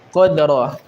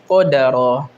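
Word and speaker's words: قدرا: Ya qod ja'alallahu likulli saaiin qodro atau qodaro hah qodro ya dengan mensukunkan huruf dal. Nah, sebagian orang ada yang salah bacanya ya dengan menggantinya menjadi apa? Qodaro ya. Qodar ro ini salah ya.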